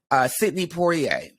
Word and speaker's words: Sidney Poitier: Sidney Poitier.